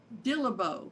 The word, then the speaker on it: Dillabough: Dillabough. Dillabough. Okay, very good. Now, okay, it's like a dill pickle with a bow tied around it.